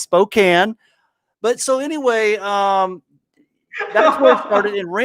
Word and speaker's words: Spokane: nice to see that no it's not pronounced Spokane uh no it's Spokane but so anyway um